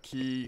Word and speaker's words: quay: by the dock right the quay I guess you pronounce it quick key so this is the key and this is a